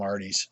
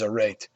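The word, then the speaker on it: arête: I believe a rate so I call them Artie's but I believe the proper pronunciation is a rate and this is that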